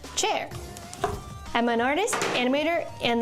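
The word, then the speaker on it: Qier: Hi, I'm spelled Q I E R pronounced chair.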